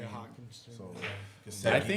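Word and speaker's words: Hockenson: We I'm still got TJ Hopkinson there, say his name. Yeah, Hawkinson.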